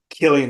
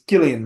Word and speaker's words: Cillian: time he was like everyone pronounces my name wrong it's not Killian Murphy it's Gillian Murphy like Jose or Jose